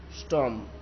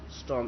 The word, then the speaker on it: storm: स्टॉम, स्टॉम, STORM, स्टॉम, स्टॉम, तो are silent है, स्टॉम तो बहुत पवन फूंकाता है और बहुत जो गुजराती में बोलेंगे वावाजोड़ू, तो दैट इज कॉल्ड स्टॉम, तो आर साइलेंट है, आप देख सकते हो।